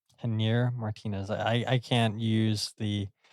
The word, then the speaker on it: Javier Martinez: Yeah, I believe that you pronounce his name Janier Martinez. Javier Martinez.